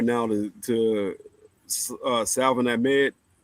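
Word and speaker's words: Salvon: Right now, like I said, going forward, I will give my flowers right now to Salvin Ahmed. I know they said the L is silent, so it's Savon.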